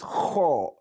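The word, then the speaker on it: خ: One is kho, one is ko, kho, ko. They are different. They sound differently. So the pronunciation is kho, kho, kho.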